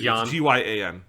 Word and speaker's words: Gyan: favorite Gundam mech, is the Gion giant, I don't know how you say it. It's Gyan.